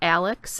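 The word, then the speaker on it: Alyx: um they're foam and they're called Alex and it's spelled a lyx I really like this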